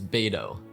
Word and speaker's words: Beidou: Yeah, it's Beidou.